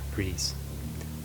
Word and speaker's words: GRIS: The game I'm reviewing today is the indie platformer GRIS. Yes, apparently that is how it's pronounced.